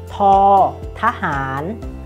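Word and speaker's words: ท ทหาร: อ ท อ sound is like t or t sound in English that means English native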